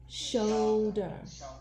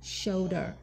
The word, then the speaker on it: shoulder: Do you know this word?S-H Should Yes 所以这个字没有 ER 就变 should right Should 对但是它变加 ER 之后变 Shoulder Show 对几乎就是 S-H-O-W 的发音 Show Shoulder 所以它也没有照 O-U 的规则对不对对它也没念 R 哦对，shoulder，